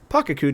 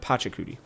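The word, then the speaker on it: Pachacuti: Uh, thank you to the person in the comments who reminded me how to say this name because I kept calling him Pakudi instead of Patchakudi.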